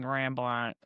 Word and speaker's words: Grand Blanc: our neighbors up in Grand Blanc. I'm not really 100% sure how to pronounce it. Yeah. I've never been there. It's Blanc. Anyway, I think you had it right the first time.